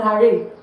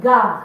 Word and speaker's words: gare: It's not gare, it's gare. The R is silent.